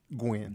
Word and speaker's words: Guin: Now I don't know how to pronounce your last name. Is it Guin? Guin.